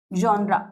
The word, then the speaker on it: genre: होते हैं, इनको हम जॉनरा भी कहते हैं। क्या कहते हैं? जॉनरा, GENRE। दिखने में ऐसा है स्पेलिंग, जेनर, लेकिन इसको बोलते क्या है? जॉनरा बोलते हैं।